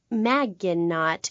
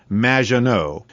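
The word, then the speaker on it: Maginot: Magenot, welcome to the show. Thanks, Amy. However, you have mispronounced my name. It's Madge, which rhymes with badge. As in duh, and no as in more than you. Magenot.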